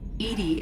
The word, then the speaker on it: EDI: they did fantastic choosing why are you named Edie Edie is the phonetic pronunciation of e di that is an acronym